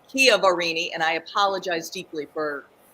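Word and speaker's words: Chiaverini: pause just for a minute last week I mispronounced Jennifer Kia varini's um last name I kept calling it shiverini it's Kia varini and I apologize deeply for screwing that up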